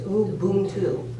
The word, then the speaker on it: Ubuntu: embodied the essence of Ubuntu I'm not even saying it right it's probably U I think it's Ubuntu remember that oo Boon to okay so it's a